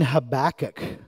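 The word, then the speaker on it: Habakkuk: we're going to be in habach this morning habac however you want to pronounce it pronounce it I call it habach it's probably not right but um this has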